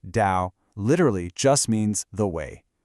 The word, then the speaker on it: Tao: So, the toao, it's pronounced dao.